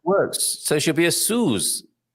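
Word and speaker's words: Suse: If you have an S between two vowels, then the pronunciation of that S is as if it was a Z.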